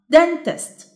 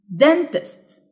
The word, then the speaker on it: dentist: dentist. dentist. يبقى the stressed syllable is dent.